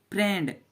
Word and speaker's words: FRIEND: एंड हो जाएगा इसे, लेकिन इसको पढ़ते हैं फ्रेंड। FR यहाँ पर आई साइलेंट हो जाता है तो ई हो गया फ्रे, ND तो हो गया ND से नोडो संयुक्त फ्रेंड।